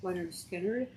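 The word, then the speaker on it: Lynyrd Skynyrd: Leonard Skinner at pronounced Leonard Skinner at $25.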